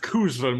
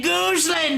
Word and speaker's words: Cousland: It's pronounced Cousland with a C. Why did you say Gooseland, then?